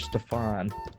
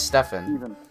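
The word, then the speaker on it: Stephen: you actually mean is it's definite stephane it's Stefan it is Earth well it's spelled that's a ste pH en you both were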